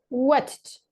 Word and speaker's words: watched: Because if you say only watch, it's basically like this. Watch. Watch. So, watched. Watched. Got it?